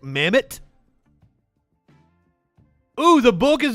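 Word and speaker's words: Mehmet Oz: mccormick by leicester wait have i been saying his name wrong i've been saying like met oz mimit that's how you say it mammoth oh the book is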